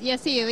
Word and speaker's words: Yassir: How you see Yassir, do I pronounce it correct? Yes, Yassir, yes.